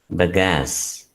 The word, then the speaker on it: bagasse: It is called BAGASSE. How is it pronounced? It is pronounced as bagasse.